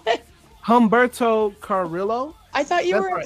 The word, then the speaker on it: Carrillo: Carrillo.